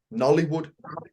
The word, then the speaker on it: Nollywood: And I know things are shifting because, for instance, Nigeria, Nollywood, as it's pronounced, Hollywood, Bollywood, Nollywood.